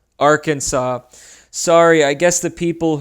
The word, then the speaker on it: Arkansas: get started first is Aransas oh wait that's not how it's pronounced Arkansas sorry I guess the